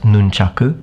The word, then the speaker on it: nunchaku: orange and using nunchaku it's actually pronounced nunchaku by the way in Japanese and in the cartoon